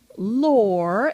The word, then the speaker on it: Lore: my name being lore and people say what's your last name I say lore it rhymes with chore and bore rhyming sentences with